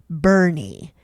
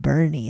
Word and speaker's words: Boerne: I grew up in the then rural Texas farming town called Bernie, but it's spelled Boerne, but pronounced Bernie.